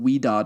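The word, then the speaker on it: Ouidad: then uh I put something called weed do it's spelled o UI d a d weed do curl quencher uh I do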